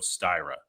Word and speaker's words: Styra: awesome and uh let's see if I can pronounce the name of your company you're the co-founder and CTO of styra is that correct you got it yeah so